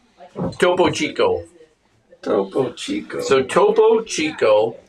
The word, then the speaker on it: Topo Chico: Topo Chico.